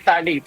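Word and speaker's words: phthalates: diyan are thads no so thales is is spelled as PH t a l a Okay thales so ang thales po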